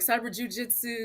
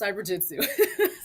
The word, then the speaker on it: CyberJutsu: all the time and they all say it wrong all the time they're like cyber jiujitsu cyber Jutsu I'm like it's just cyber Jitsu cyber jit I know